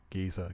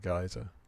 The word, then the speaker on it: geyser: the air by this water geezer geyser depending on your pronunciation of the word yeah i'm just using